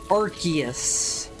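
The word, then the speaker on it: Arceus: Okay, I know it is meant to be pronounced Archus, but it is it's Arus just flows better based on the spelling of the word.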